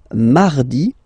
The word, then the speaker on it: mardi: Then mardi, mardi. So you can hear that you don't pronounce it that strongly, this R. Huh? Mardi, mardi, okay? You don't need to go too deep like mardi.